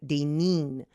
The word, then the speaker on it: Daynin: And in Hawaii, I is pronounced E. So when she spelled my name Daynin, she used the Hawaii pronunciation of E, like Daynin.